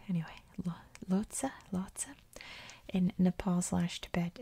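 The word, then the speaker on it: Lhotse: known how to pronounce i've always assumed it's lotsa like a lhasa opso dog anyway lotsa lotsa in nepal slash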